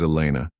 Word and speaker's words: Elena: "My name is Elena. I'll be taking care of you this evening." Elena. He tested the name, noting the slight emphasis she placed on the second syllable.